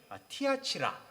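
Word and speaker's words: Θυάτειρα: 되겠습니다 이 두아디라 교회는 헬라 식으로 발음이 티어 치라 이렇게 된다고 해요 2 2화 지라 도시의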